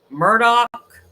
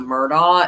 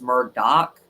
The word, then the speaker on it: Murdaugh: is Alec Murdock and that's how you pronounce it I don't know why uh it's just that's how they say it Alec um instead of Alex and then it's not murder it's Murdoch so Alec Murdock killed his